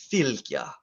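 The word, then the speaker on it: fylgja: filter is f y l g j a filthya and uh it would be worth to note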